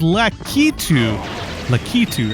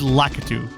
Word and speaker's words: Laatu: a lcu I used to call these guys litu litu I I I for whatever reason I was like oh yeah that's the way you pronounce that guy's name it is laatu ladoo please move you can unfortunately not get